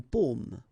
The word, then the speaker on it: paume: Okay, so you can see that I pronounce them a little bit, a little bit differently, but then we'll be careful that in many cases people will pronounce them the same way. Okay, because in that case normally it should be a bit lower, pomme, and then here more open, so pomme.